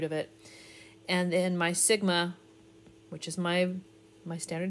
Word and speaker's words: sigma: it's the same thing Sigma which is the standard deviation the sigma is the way you pronounce it it's the standard deviation